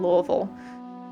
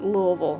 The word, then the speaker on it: Louisville: house in Louisville, or I should say Louisville if you're not familiar with the area. But the locals pronounce it Louisville, which makes it sound like, you know, you gotta say it like you threw up a little bit in your mouth.